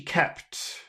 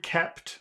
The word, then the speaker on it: kept: word kept Muhammad kept what do you think about the vowel sound in there can you say that word kept kept that's that's a really hard word to say because you have to say kep so the only way